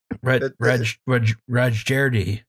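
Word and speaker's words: Rajerdi: So, according to, I'm going to get this pronunciation wrong, Kazra Rajeri, it's said, got a D in there. Rajeri. That's probably right. We apologize.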